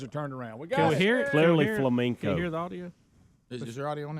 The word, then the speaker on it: flamenco: an easy 7 100 Monday after botching his pronunciation of the word Flamenco Flamenco they said Flamingo Flamingo like the animals I understand guys every